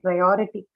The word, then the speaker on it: priority: You have the suffix ity. Priority. Rio. On o. Okay, the one that is right before ity, right? Prior. That Or. vowel or syllable is stressed, or priority. Okay, that's the one that is stressed.